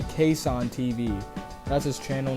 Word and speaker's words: KassanTV: even realize till now I've actually been pronouncing the Channel's name wrong the entire time by accident so his channel name is actually case on TV that's his channel name